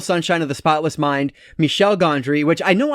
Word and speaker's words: Michel Gondry: Gondry, which I know I called him Michael Gondry in one of my videos I filmed recently, and I'm like, what are you doing? Oh my gosh, like, I know how to say his name, I feel like such an idiot. But anyway, Michel Gondry, The Science of Sleep.